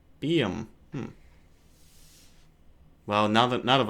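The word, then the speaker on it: Buium: My guess would be probably It's pronounced Bium. Bium.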